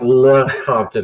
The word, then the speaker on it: Lecompton: It's pronounced Lecompton, if you're wondering.